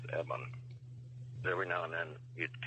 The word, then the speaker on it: EBE: Yeah, but he didn't pronounce it even. What did he say? He said it was Eban.